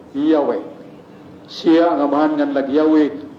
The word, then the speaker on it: Yahweh: Pero sa Hebreo, upat na kalitra. Yud, he, waw, he. Kanang I am who am. Yud, he, waw, he. Ma-pronounce sa mga Hudyo, kung sa'yo pronunciation, Yahweh.